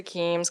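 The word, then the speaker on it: KEMS: so the keems database and we say keems KES is common pronunciation also um is used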